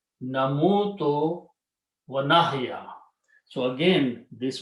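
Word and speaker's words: نموت: In order to make the easy pronunciation, what we do, we switch the harkat here with this one. So we bring sukoon here and sound of wow on the other one. So it becomes na muto.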